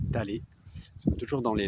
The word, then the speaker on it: Taller: Ça s'écrit Thaler, mais prononcé Talé.